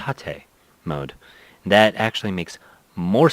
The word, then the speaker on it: tate: fact I learned that tape mode is not pronounced Tate it's pronounced at a mode that actually makes more sense now being